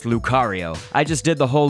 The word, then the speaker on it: Lucario: but I knew that Lucario's name was pronounced Lucario I just did the